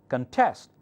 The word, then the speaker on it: contest: about this one contest contest is a noun that means a competition and this one contest is compete a verb quite often when you have two two syllables con and test if it's verb the second one takes the primary accent you may think it's